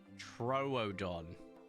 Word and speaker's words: Troodon: Troodon.